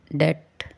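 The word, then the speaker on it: debt: कम कंघी क्लाइम चढ़ना डेट करसा डेट में बी डी ई बी T spellings है बट हम इसे अ इसकी प्रोनंसिएशन डेट है बी साइलेंट शक लैम मेमना डम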